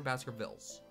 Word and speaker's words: Baskervilles: is it Baskerville or Baskervilles? Does anybody know? Baskervilles. I know it says that, but... Oh. Is the S silent? I don't know. I'm pretty sure you pronounce the S because it's not French.